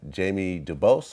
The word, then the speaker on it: Dubose: masterpiece son is on it anton peoples uh jamie dubose am i saying it right yep and jazz